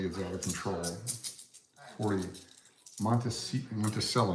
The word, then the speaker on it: Monticello: Monticello, not Montecito. Montecito is that fake casino in the Las Vegas TV show. Monticello, Monticello, however you want to pronounce it.